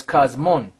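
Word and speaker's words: κόσμον: Because that's really the pronunciation of this one, I believe, is cosmon. Because this is a nu. A nu, right. So that's cosmon.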